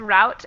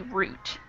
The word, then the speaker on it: route: And that last one, sometimes people pronounce it as route and other people pronounce it as root. And for this particular vowel sound, it should be root.